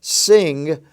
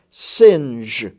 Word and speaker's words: singe: to make sure that you pronounce the G in the J form rather than the G form as you know the